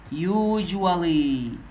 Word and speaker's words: usually: كمان usually يعني عادة، واخد بال ان الاس نطقتها جيم بالاتنين المتحركين دول.